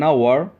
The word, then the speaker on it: hour: egg an orange an hour the letter h and this word is silent so it sounds like it starts with vowel let's look at the